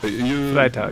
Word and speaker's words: Freitag: Freitag, you kind of pronounce it like Friday, Freitag.